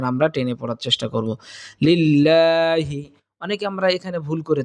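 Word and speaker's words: لله: তাহলে আমরা লা পড়বো সুতরাং এখানে লিল্লাহ হবে না এখানে আমরা পড়বো লিল্লাহি লিল্লাহি রব্বিল রব্বিল রব্বিল আলামিন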